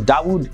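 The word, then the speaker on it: داوود: Now, after becoming Muslim, he changed his name to Dawood Kim, and Dawood is the Arabic pronunciation of the name David.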